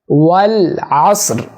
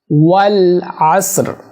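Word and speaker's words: والعصر: ওয়াল আসর, ওয়াল আসর। আসর এইটা অনেকেই ভুল করেন, পারেন না। এখানে হিডেন র, আসর রটা হালকা উচ্চারণ হবে।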